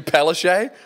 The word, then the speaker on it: Palaszczuk: Anastasia Palaszczuk? I think even she wants to lose. Oh, that's how you pronounce her name.